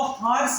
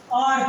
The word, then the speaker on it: hour: अब अपन इसको हार्स नहीं पढ़ते कि क्या पढ़ते, इसको आर पढ़ते, क्या पढ़ते, आर पढ़ते हैं।